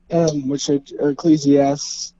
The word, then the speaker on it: Ecclesiastes: Well, there's also this passage in Ecclesiastes, Ecclesiastes, yeah, that's how you pronounce it.